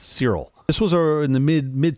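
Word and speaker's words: Searle: It was postulated by John, I think his last name is pronounced Cyril.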